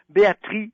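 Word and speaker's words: Béatrix: femme merveilleuse qui s'appelle Béatrice Beck. Ça s'écrit avec un X et le X se prononce pas.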